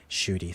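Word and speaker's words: Ncuti: How do you pronounce his name? Shooty, thanks.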